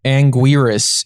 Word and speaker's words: Anguirus: the chat here it says I bet and Anguirus is how you pronounce it oh and Garrus yes and Garrus